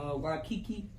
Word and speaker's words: Waikiki: I've been to Hawaii one time, Waikiki.